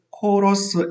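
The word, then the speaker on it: KORUS: 영어로는 코러스 FTA라고 해서 KOR 한국에서 따왔고요. US 미국에서 따와서 발음을 코러스 FTA라고 합니다. 이 코러스라는 철자를 KOR US라고 쓰지만 사운딩 자체가 우리 음악하는 합창하는 코러스라는 의미죠. 그 좋은 의미, 하모니라는 의미지 않습니까?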